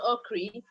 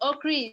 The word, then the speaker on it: Okyere: to start with Solomon Okri. I didn't find his story on Google, but I'm going to give you his proper name so you can check. Solomon is Solomon, but Okri is spelled Okyere.